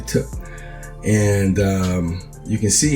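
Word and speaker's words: Tet: tough all right and the spell is t-e-t sounds like it could be pronounced Tech but it's actually tip and um you can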